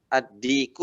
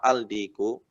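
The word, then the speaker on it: الديك: Selanjutnya ad-diku apa al-diku? Ad-diku. Ya, alif lamnya diidghamkan.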